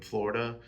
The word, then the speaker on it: Florida: Self-portrait as the I in Florida, and then self-portrait as the duh in Florida, which is how, you know, native Floridaidians pronounce the DA part of Florida.